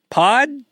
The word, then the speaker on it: P.O.D.: Uh, of course we're still here talking about American rock band Pod.